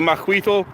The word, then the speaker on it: Macuahuitl: yes that aztec sword the maquito and i know that the t the lt is silent and i'm still working